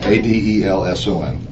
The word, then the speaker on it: Adelson: Actually, it's spelled right. I said it wrong. Adelson.